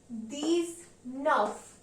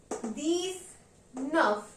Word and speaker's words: dix-neuf: 19 will be pronounced as deez-neuf. Means deez means 10, neuf means 9. Therefore, it will be pronounced as deez-nuhf.